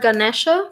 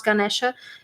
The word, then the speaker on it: Ganesha: I have Lord Ganesha for you. You didn't see anything, right? It was too bright. Right? It's like Lord Ganesh. I pronounce Ganesha, and I sense a